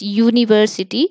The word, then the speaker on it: university: And in the same way, university, to university also we pronounce like this university.